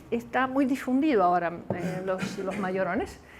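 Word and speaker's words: Majorana: italiano etore mayorana y la J en italiano se pronuncia y así que por eso es mayor on y no majorón o más Llorona porque fue mayor con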